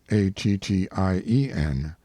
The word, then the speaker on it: Attien: I have preferred the form found on his tombstone, Attien, because it indicates both the pronunciation and the derivation, for it is not Indian, but the French Etienne, or Stephen. End note.